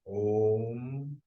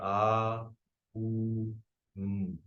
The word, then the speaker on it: om: of chanting ohms uh when you chant om you can either just chant om like just one combined word or you can divide it into three syllables chanting a o m dividing it into three syllables like that so I will switch